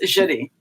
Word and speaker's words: Jeudi: right there right JY is your name pronounced Judy you know I always thought it was Judy it's Judi Judy my good and you're